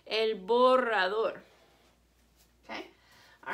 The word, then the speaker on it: borrador: When there's 2 R's together or there's an R at the beginning of the word, you roll your R. El borrador.